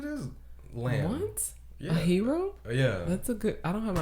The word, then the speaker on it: gyro: Is it gyro or a hero? It's a hero. It's a hero. I don't think anybody would be out here pronouncing. I hear a lot of people saying gyro because they're ignorant as fuck.